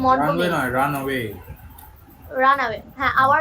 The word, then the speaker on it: Montgomery: Hour runway guide Lucy মন্টজমেরি, sorry runway মন্টগোমেরি।